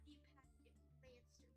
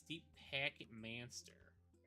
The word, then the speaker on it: Deep Packet Manster: Not deep packet monster. It's Deep Packet Manster. Yes, Packet Manster. You gotta say it right.